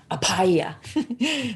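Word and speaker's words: abhaya: put it in um it's a little harder to pronounce because you put you the b forces the h so it's apaya and um this is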